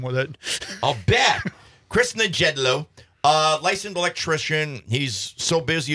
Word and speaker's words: Nejedlo: It is Nejedlo. Nejedlo. You do pronounce the J. Yeah. That seems weird for a Czech name. Yeah. Telemarketers have a real good time with it. I'll bet. Chris Nejedlo.